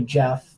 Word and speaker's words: Geoff: I've said it in, like, the country of, it's actually, if you want to get technical, probably pronounced Jeff, G-E-O-F-F.